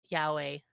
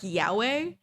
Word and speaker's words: yaoi: It's probably the best yaoi I've seen. What? Yeah, Wait, can you repeat that? it's yaoi. Oh, you said it like Yahweh, and I was Sorry, like, I fucked up how I pronounced it.